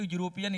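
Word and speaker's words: European: अगर यूरोपियन का आप उच्चारण करते हो, देखिए यूरोपियन इस प्रकार से होता है, यूरोपियन, है ना, यूरोपियन देखिए इस प्रकार से लिखते हैं।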